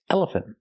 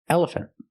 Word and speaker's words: elephant: elephant planter and pronunciation we don't say elephant planter it's elephant elephant the last syllable is not stressed we do not say